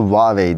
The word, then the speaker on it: Huawei: and crafted by Huawei Daha doğrusu Huawei diye okunuyor Huawei Ultimate Design diye